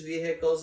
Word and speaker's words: vehicle: police vehicles and news vehicles and everybody's rushing to the scene they're like coming up next like how you say vehicle yeah vehicle i've never heard anyone pronounce the h so i asked one